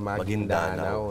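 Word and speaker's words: Maguindanao: e kay kay goob hindi pala magindanao an magindanao yun pa ang tamang pronunciation go ah magindanao yyun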